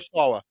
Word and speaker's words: Sawa: Is it Sawa or Sawa? Sawa. You said it right first.